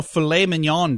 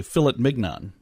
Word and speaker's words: filet mignon: international left-handers day and national filet mignon day or as i've heard it pronounced incorrectly philip mig none that is incorrect yeah sure worked at